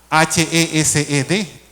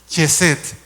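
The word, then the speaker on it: חסד: La palabra H-E-S-E-D, o Hesed, como la leeríamos nosotros, que también se puede pronunciar Chesed, que lo consigna también, y la palabra Ratzon.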